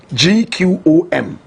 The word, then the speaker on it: gqom: big fan of home correct pronunciation clone gqom they say it with a click of the tongue jerusalema is i love